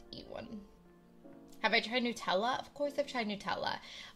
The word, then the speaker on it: Nutella: Nutella if you say Nutella you're normal because that's how you say it but if you say Nutella like a nut like Nutella I'm judging you oh my my